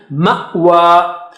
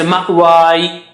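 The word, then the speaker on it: مأوى: Ma'wa, ma'wa, ma'wa. So you have to give the sound of hamza. Alif with sukoon is hamza. Ma'wa, okay, and you don't pronounce that ya. You don't say ma'wai, for example.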